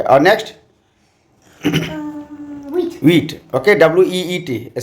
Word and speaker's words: huit: और next wheat, okay, WEET, spelling है HUIT French में, इंग्लिश में उच्चारण होगा वीट।